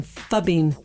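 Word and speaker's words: phubbing: spell it for me it's fub in just like it sounds pH Oh see it sounds like f yeah F we have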